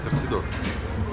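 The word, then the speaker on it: torcedor: Ну, можно и так сказать, но более правильно говорить торсидор.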